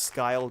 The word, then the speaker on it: Skial: skial two server yeah I know it's pronounced sky but SK just sounds 20 times funnier so sucked in but